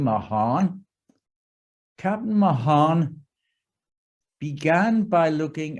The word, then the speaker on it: Mahan: power captain alfred sayer because that was the way we pronounce his name mahan captain mahan began by